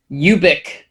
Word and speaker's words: Ubik: Radio where he did address the pronunciation of Ubik, and it is, I believe, technically Ubik. And Anthony, you want to read the quote? Ubik.